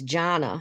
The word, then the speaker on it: Jonna: to pronounce the knit your name it's jonna hi jonna so look